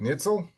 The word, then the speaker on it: Nietzel: Evan and Carly Nitell. Uh, and I think I'm pronouncing that correct. Nitell.